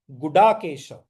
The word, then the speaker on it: Gudakesha: Aham Atma Gudakesha Sarvabhuta Shayasthita. Sometimes people mispronounce it as Guda with that dot within. In Sanskrit, that is not there.